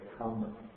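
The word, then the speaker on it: kamma: But what happens in Pali, because it was based on spoken languages, for ease of pronunciation, the R is assimilated to the M, so we get kama.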